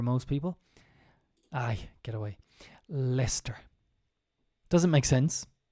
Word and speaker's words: Leicester: startup which has offices in Belfast and Leicester pronunciation here very difficult for most people I get away Lester doesn't make sense it's not Leicester Leicester uh